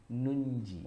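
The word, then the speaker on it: ننجي: Itu nun untuk biar kita nggak keliru. Ya, kalau aslinya yang ditulis oleh para sahabat dalam rasam Utsmani yang aslinya itu nunnya cuma satu, maka boleh jadi kita bacanya jadi keliru.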